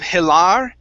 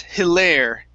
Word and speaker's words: hilarious: only one really so instead of hilar it's hilaire okay with a long a hilarious darius good yeah